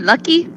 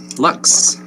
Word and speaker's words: Lux: hey was it was your name lucky was it it was lucky nope Lux Lux okay so like more than one luck okay Lux got for the next but yes definitely going to spell it l u c KS um I'm going to